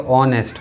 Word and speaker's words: honest: H silent हो जाता है तो उच्चारण ओ का होता है, जो एच के बाद सेकेंड लेटर है।